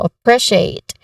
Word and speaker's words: appreciate: Now, the stress here is on the second syllable, so appreciate.